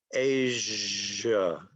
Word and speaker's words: Asia: If you've been saying Asia, maybe now you need to change your pronunciation to Asia, voiced. Asia.